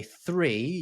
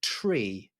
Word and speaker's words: three: helpful so for example in aviation you won't necessarily say three you'll say tree instead for becomes for as